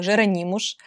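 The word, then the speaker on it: Jerónimos: можете видеть красть красивейший имя этому монастырю жеронимуш и я заметила что в португальском языке буква s произносится как то что я немножечко так получила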